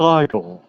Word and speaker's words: Igor: I would only, it's pronounced Igor. It's not Ego, it's Igor.